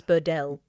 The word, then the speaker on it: Burdell: I'm I'm choosing to pronounce him as Burdell. Right. Rather than Burdell.